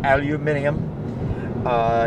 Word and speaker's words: aluminium: acid it's a aerosolized aluminum or as the British say aluminium it is aerosolized barium